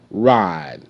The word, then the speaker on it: ride: Ride. I. Ride. Ride. Ride. E is silent.